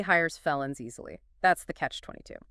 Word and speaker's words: catch-22: Next, catch-22. CATCH-22. Stress. Stress on the end.